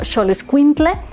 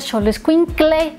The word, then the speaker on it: Xoloitzcuintle: Uno, por supuesto, es el famosísimo Xoloitzcuintle, que por cierto, yo lo pronunciaba mal. Yo decía Xoloitzcuintle y no es con cle, es tle, con T-L-E, ¿no?